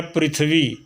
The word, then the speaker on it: पृथ्वी: जैसे मैंने दिया पृथ्वी, प्री, अगर इसको अलग कर देंगे तो पर ई, प धन र धन ई, तब प्री बनेगा। आधा थ है, फिर वह